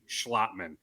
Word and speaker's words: Schlottman: you say it yes the pronunciation is undoubtedly schlotman so austin schlottman with